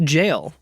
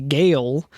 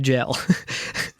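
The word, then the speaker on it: gaol: g a o l that is pronounced jail I learned that by playing Elden ring and calling it a gale for a long time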